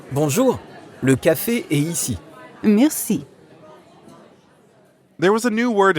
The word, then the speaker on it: merci: Merci. Merci. Merci has a French R in the middle, so we have to use our throat a bit.